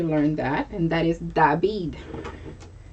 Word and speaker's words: David: that and that is dabid d is spelled the same way but just pronounced differently david in the spelling